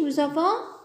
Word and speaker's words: nous avons: Regardez le S à la fin est muet, il ne se prononce pas. Et quand on lit, on doit faire la liaison. Nous avons. Le S et le A. Nous avons.